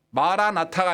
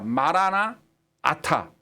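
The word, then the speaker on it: Maran atha: 말이 원문으로 말아 나타납니다 여기 보면 우리 주라는 말을 말한 말하나라고 읽어요 그 다음에 오타가 아타라는 단어에서 왔는데 컴 그런 말입니다 주여 오시옵소서 그게 말한 아타 마라나타가 아니라 말하나 아타 말한 아타의 합성어예요 그러니까 하지만 주님 오세요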